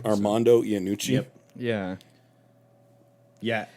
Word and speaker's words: Armando Iannucci: His name is Armando Iannucci, is I think how you pronounce it. Mm-hmm. I mean, it sounds Italian, but he's a Scottish director. Armando Iannucci.